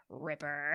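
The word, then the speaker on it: RIPPR: in parentheses like just so you know it's pronounced Ripper oh they're so cool some paleontologists say that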